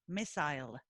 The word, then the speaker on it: missile: Missile. I know what a missile is. How do you pronounce it? Missile? Missile. Missile. Yeah. Like a mistletoe? Yeah, like mistletoe, exactly. Okay, except spelled different.